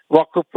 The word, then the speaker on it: വഖഫ്: എന്നൊരു വാക്ക് ഇങ്ങോട്ട് കേട്ടതോടുകൂടി അതൊരു അറബി പദമാണ് തെറ്റായിട്ടാണ് ഉച്ചരിക്കുന്നത് വഖഫ് വക്കഫ് എന്ന് പറയും വഖഫ് എന്നാണ് ശരിയായ ഉച്ചാരണം അത് ആ ഒരു നിലക്കും